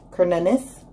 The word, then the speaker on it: Cernunnos: And in the future, we have, it's actually pronounced Cernunnos, and it's life force.